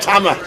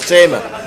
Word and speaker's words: Tama: to us and say he's Tama not Tamer Tama he's Tama Alice we are in